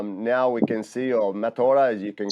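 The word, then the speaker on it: mataora: Well, my matora, that's how you say it. Mata is the face, and ora is the life.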